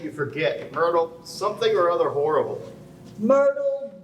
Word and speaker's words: Myrtle: And don't forget, Myrtle rhymes with fertile.